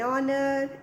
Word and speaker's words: honor: When beta H letter is silent, then we use an. Like an hour, an honor, an honorable.